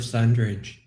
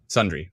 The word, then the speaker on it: Sundre: Francis just said tornado on the ground south of Sundridge. Okay, I'm going to definitely post that Sundre, right now. Sundre, yeah.